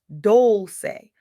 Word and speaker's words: Dolce: When loss becomes your launchpad, welcome to Soft Girl Era, hosted by Dolce, pronounced Dolce, like sweet softness whispered in French.